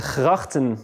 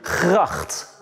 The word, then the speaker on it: gracht: Gracht. Gracht. One more time. Gracht. Gracht. Yeah. So there's a G, there's an R, and another G. So we actually pronounce this one as a G as well.